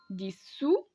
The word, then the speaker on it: dissous: Le premier radical se prononce dissous. Le deuxième radical se prononce dissolve.